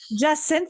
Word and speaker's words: Jacinthe: Is it Jacinthe or Jacinthe? Jacinthe. There you go. Yeah, the French version of the hyacinth flower, although I'm not French. My parents were just hippies and liked flowers. Jacinthe sounds so lovely.